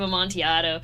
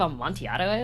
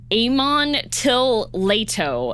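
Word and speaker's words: Amontillado: You don't know what the cask of a montiato is? What the? I had a substitute teacher pronounce it Aman Till Leato and it made me so mad.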